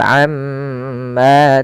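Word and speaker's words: عمّا: Kemudian pada lafal amma ta'malun, tahan pada bunyi ma. Amma, karena pada lafal tersebut ada yang dinamakan dengan bacaan gunnah. Itu cara membacanya, nya ditahan. Amma, jangan langsung amma, tapi amma ta'malun.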